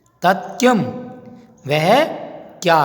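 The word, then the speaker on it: किम्: अब यहाँ पे की बोल देते हैं बहुत सारे भैया बहन, जो है की बोलते हैं, की के ऊपर जो है बिंदी लगी हुई है, तो इसका उच्चारण होता है माँ से होता है। ठीक है, तो आधा माँ बोलेंगे किम, छात्र किम करोति, इस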